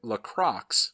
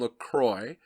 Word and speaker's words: LaCroix: lock rocks not from Lacroix which is like a French pronunciation of the same word I realize it as a French word but apparently the locals call it lock rocks and since it's from